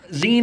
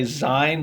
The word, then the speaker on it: zine: bit for a start zine is short for magazine it is pronounced in the same way a lot of people say zein because they don't get